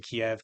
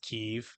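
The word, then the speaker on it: Kyiv: United States started pronouncing Kiev Keev out of nowhere. Out of now. Well, because it's Keev in Ukrainian, but it's been Kiev in English for my entire life up to that point.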